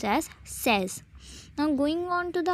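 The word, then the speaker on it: seize: the pronunciation is cease and the 16 is pronounced as says now going on to the operator table let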